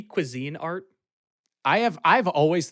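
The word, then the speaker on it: Cuisinart: guess I'll take the quis art also why is that how it's colloquially pronounced shouldn't it be Cuisine Art I have I have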